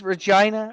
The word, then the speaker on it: Regina: name a Reina yeah no it is it's Regina uh you know I know it's a real town but like as an Australian I'm just like who freaking hell would name their Town Regina rhymes with well there's Saskatoon like